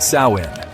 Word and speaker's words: Samhain: The Kelts celebrated a festival called Samin, pronounced Sawin, on the night of